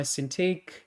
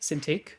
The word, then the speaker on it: Cintiq: Um, we got Bananaama says, "Honestly, I prefer to use my tablet versus my Cintiq." Is that how you say it? Cintiq. Yeah, Cintiq.